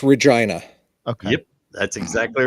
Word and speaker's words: Regina: read it how is it it's it's it's Regina okay yep that's exactly right it it rhymes with yeah I know I know I